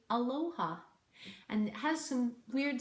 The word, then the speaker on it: Aloha: fill in the blank it's an A and an L and an old H and an A to be pronounced Aloha take your time to